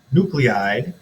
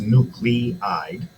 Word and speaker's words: nuclide: Nuclide, which is a weird way to say that word because that looks like nuclide. It's both. I've only heard it's pronounced nucleide.